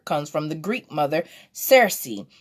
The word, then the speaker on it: Circe: from the Greek mother Circe pronounced Searcy a sorceress who would